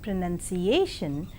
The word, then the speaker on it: pronunciation: In 5-syllabled word pronunciation, the penultimate syllable is more prominent, that is pronunciation.